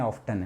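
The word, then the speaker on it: often: तो ये दोनों एक ही बात है, तो ऐसा मत कहना कि सर ये ऑफन है ऑफ्टन है। आप मूवी देखोगे इंग्लिश मूवीज को ऑफ्टन कह देते हैं वहाँ पे, तो ऑफन ऑफ्टन प्रोनाउंसिएशन का कभी कोई लोचा नहीं होता, आराम से, कोई टेंशन वाली बात नहीं है।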